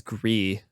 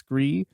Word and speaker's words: Gris: Gris or Gris? I think it's Gris.